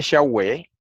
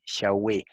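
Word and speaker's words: שָׁוֵה: Otras versiones dicen Shavé, el valle de Shavé. Pero fíjense que en el hebreo, vamos a buscar acá en el texto hebreo, la palabra que se translitera, mejor dicho, aquí como Shawé, Shawé.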